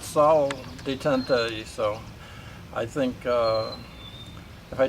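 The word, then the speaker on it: salle d'attente: They used to call this, or the French call it, Sally Detention's room, I think. I'm not good at French though, but this is how they spell it. I believe they really call it Salle Detente, so I think if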